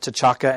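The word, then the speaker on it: T'Chaka: brought in King and I liked how they said tachaka and tala because I'll go with that since it's in the movie yeah I think we were all pretty gratified that we've been pronouncing it right all along at least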